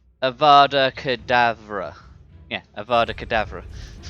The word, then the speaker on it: Avada Kedavra: a moment forever cadaver to uh it's Avada Avada cadaver isn't it like is that how it's pronounced rebellious let's see how is it pronounced Avada Kedavra yeah Avada cadaver it's almond do you know